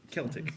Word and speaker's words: Celtic: Imagine there's a K and it's spelled K. A K. I need a K.